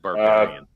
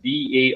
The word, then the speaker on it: Barberin: It sounded like you said barbarian. Barbarian. So kind of like barbarian, but it's Barberin.